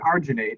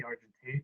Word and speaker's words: argentate: Because I know I heard arginate and then I see argentate. I'm just making sure. Let me see. No, it is. It's argitate. Argentate. I've always mispronounced that then.